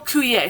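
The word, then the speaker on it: Coué: Emile Coulier. So if you want to look it up, it's Emile. Coulier is spelled Coue.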